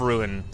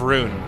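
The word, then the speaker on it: Rhûn: into the Sea of Ruin. Of Rune, actually. Sorry, not Ruin. Sea of Rune. I think is how you would pronounce that.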